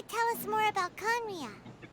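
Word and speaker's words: Khaenri'ah: Yeah, Oh yeah, after we've dealt with the monsters, we should ask her to tell us more about Conria. Kanria. That's how we pronounce Kanria.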